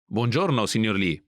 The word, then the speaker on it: buongiorno: to drop thee finally mark's family name lee pronounced in italian all together it's bonjourno good morning mr lee note this exchange is